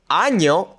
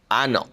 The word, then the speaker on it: año: pollo n y sounds like an n and a y put together. So, make sure you say año and not ano.